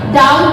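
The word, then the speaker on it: doubt: टी से पहले बी आ गया साइलेंट हो जाएगा, डी ओ यू बी टी, टी से पहले बी आ गया साइलेंट हो जाएगा, डाउट बोला जाएगा, सटल बोला जाता है इसको, सटल।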